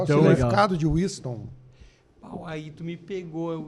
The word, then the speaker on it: Wissthon: Para começar, como é que é a pronúncia correta do teu isso, nome? porque... É Winston.